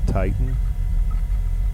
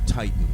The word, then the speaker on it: TTN: How do you pronounce it? Titan. A TTN, but yes, Titan.